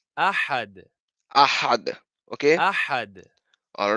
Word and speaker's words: أحد: أحد Ahad.